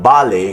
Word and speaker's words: ballet: T refuses to be audible in ballet, castle, listen, and whistle.